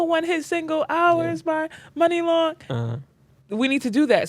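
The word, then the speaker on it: Muni Long: her name is yeah money long it's spelled m-u-n-i money long get it money long what do you think it was what'd you think i had to say mooney jesus christ yo that's not how money is y'all really yeah that's not how money is spelled it's a play on words honestly this is why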